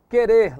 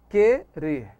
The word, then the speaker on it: querer: Querer, lembram? É um dígrafo porque tem som de K, não é isso? Querer.